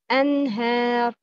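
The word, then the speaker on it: أنهار: Number one, you shouldn't open your mouth too much when pronouncing alif mat. Example, please look at this word, anhar. The right pronouncing is anhar.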